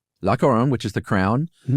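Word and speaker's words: La Couronne: Uh, how do you pronounce that, Josh? Laoron. Lacoron, which is the Crown.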